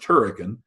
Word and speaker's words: Hurricane: George there are lots of smaller towns like Santa Clara and Huracan spelled hurricane but pronounced turrican that are showing demographers this is a place